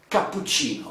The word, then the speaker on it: cappuccino: ah cappuccino okay so let's say the correct pronunciation cappuccino okay it's written here